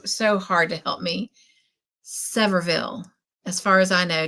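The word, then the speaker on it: Sevierville: Severville. That is You are correct, Suzanne. That is how it's said. Severville.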